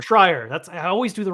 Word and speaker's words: Schreier: I think I was seeing, I always forget how to say his name, Jason Schreier. Jason Schreier. Schreier.